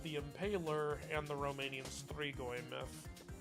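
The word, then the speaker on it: strigoi: Like um Count Dracula is very much based on a mixture of real world Vlad the Impaler and the Romanian Stregoy myth. Threegoy is spelled s t r i g o i.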